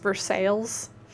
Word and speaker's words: Versailles: Like we have a place that's spelt the same as Versailles in France, but it's pronounced Versailles here.